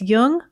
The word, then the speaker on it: Jung: jung on apple podcasts just be sure to pronounce jung with a hard j so with special thanks